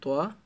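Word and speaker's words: طاء: দেন হচ্ছে তোয়া, আবারও বলছি তোয়া, এটা তার মতো উচ্চারণ হবে না তোয়া, আছে জ, আইন, আইন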